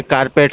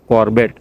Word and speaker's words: Corbett: तो कारपेट साहब आप वहाँ पे उनको उस टाइम पे इंग्लिश में बोलते नहीं आ रहा था कॉर्बेट। तो जनरली लोग कोई भी प्रोनाउंसिएशन में बोलते थे तो कारपेट साहब ही बोला करते थे।